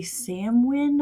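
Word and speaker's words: Samhain: And by the way, happy Halloween and happy Samwin. I think it's pronounced that way, which is um when you know when people celebrate it.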